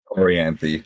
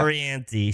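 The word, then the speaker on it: Orianthi: We are talking about, how do you pronounce her name again? Orianthe, yeah. Orianthe.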